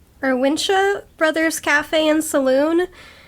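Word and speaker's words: Wunsche: these it's vincia or winsha brothers cafe and saloon it's like a german name so i don't know if they pronounce it the german way or if they pronounce it like a english way but i'm going to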